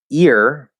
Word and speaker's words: ear: Yeah, so ear doesn't have an H in front of it. And in the spelling, but also in the pronunciation.